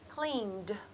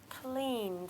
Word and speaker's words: cleaned: the let the word cleaned cleaned you can see I'm not pronouncing the E all I can hear there is the D sound so I'm going to